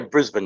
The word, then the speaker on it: Brisbane: Is that properly pronounced? Yeah, Brisbane.